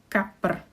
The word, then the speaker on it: kapr: So pr is a syllable. Kapr, 2 syllables.